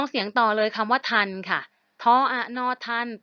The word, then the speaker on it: ทัณฑ์: ทอ มัน โทร กรัณย์ นะ ฮะ อ่าน ว่า ทัน เหมือน กฎ หมาย ถึง โทษ หรือ อะ โทษ